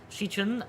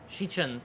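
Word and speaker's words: Xichun: Zichun, okay, yeah, that's how you pronounce it. Thank you, Honglu. Hold on, I wanna remember that. 시춘. 시춘. Shichun? Okay. 시춘. Shichun, got it.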